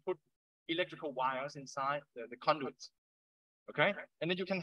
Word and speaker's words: conduit: sometimes called conduits right please uh pronounce it beautifully with your thai people pronouncing honduran so i don't know who is going to suck one pandu it's horrible it's conduit which means it's like a